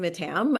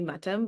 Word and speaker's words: Mattam: sahaj yeah absolutely so I say my name is mat but if you were in India in Kerala um better pronounced or or more appropriately pronounced would be matam but I grew up